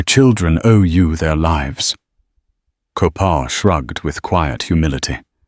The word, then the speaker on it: Kopaw: He introduced himself as Kopaw, pronounced Ko-pa, which he explained meant dark hawk in his language.